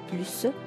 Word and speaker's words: plus: moins sage note bien l'adverbe plus quand on utilise avec le superlatif on ne prononce pas le s alors on dit là plus ou bien le plus ou bien les plus meilleur et mieux